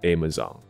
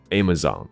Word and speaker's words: Amazon: 但如果你要走的是北美的发音的话，它叫做 Amazon， Amazon， OK，所以不是 Zone 的发音。如果是 Zone，听起来像这个字 Amazon， Amazon，但无论